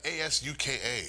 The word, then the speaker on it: Asuka: in a long time how do you get Asuka out of as Uka we went over this time the you is silent so why is it there